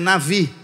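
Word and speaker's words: נביא: Profeta em hebraico é Navi embora você veja escrito com b a pronúncia é com v então às vezes a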